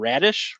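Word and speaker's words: Raddysh: I think Boltman threw out a first rounder and Radish. Is that how you say it? Radish, yeah.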